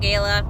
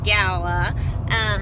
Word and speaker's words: gala: gala it was actually if you think about gala you're an apple but the correct way to pronounce it apparently is gala I got to get